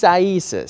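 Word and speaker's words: Isaias: trouble with it but it's actually pronounced isis so there we go if you don't know how to pronounce it back home ease i ease us so i still may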